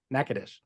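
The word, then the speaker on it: Natchitoches: about nakadish this is how it's spelled but pronounced nakadish it's uh Steel Magnolias was filmed there they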